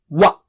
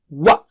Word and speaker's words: وَ: Form a circle of the lips and then separate them to produce the sound. Wa. Wa.